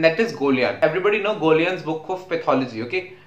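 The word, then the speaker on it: Goljan: Everybody know Golian's book of pathology, okay? A lot of people pronounce it as Golgian. It's actually Golian.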